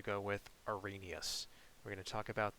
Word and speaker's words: Arrhenius: but trust me, it is not pronounced Arrhenius. Now, or Arrhenius, or anything like that. I'm pretty sure it is pronounced Arrhenius. That is the way that I have heard it pronounced before, and that sounds pretty good to me, so I'm going to go with Arrhenius.